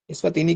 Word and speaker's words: Eswatini: इस्वातिनी की spelling आप note कर लें, ESWATINI, इस्वातिनी, ठीक है।